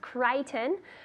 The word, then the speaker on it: Crichton: So the pronunciation is Crichton.